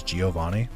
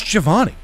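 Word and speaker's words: Giovanni: Uh, obviously all of us grew up pronouncing his name as Giovani.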